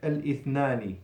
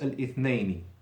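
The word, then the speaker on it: الاثنين: So, going back to the word Monday, you never say al-ithnani. It's totally wrong. It's always al-ithnaini. Okay, with L and a ya before the noon.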